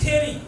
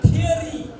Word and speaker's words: theory: इट्स अ भेरी बिग थियोरी। यो बहुत ठुलो थियोरी हो। थ्योरी भन्छौँ हामी। This is द wrong pronunciation. How do you say it? It's a theory.